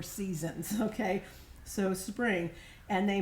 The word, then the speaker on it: SZNZ: And it's sort of spelled SZNZ, but it's pronounced Seasons.